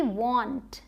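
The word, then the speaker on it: want: ओ का भी साउंड आता है स्पेशली डब्ल्यू के साथ डब्ल्यू ए एन टी वांट वांट।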